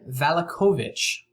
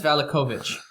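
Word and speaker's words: Vallakovich: of the guards beside you uh um Baron valakovich spell that please v-a-l-l-a kovich okay how do you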